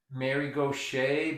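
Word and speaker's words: Gauthier: partner what's her name mary gauche but you'd never know it to spell it that way it's spelled like gothier g-a-u-t-h-i-e-r and the book is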